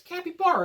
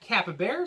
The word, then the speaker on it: capybara: a in the middle it's Kappy bar it's not Kappa bear so so there you go it's real simple capy barar good job everybody now we